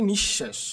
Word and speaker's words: নিঃশেষ: একইভাবে আমরা বলতে পারি নিঃশেষ নিঃশেষের মধ্যে কিন্তু দেখো এখানে তালবস এর আগে কি বিসর্গ দুইবার আছে কারণে তালুবশ্য দুইবার উচ্চারিত হয়েছে আশা করি তোমরা বুঝতে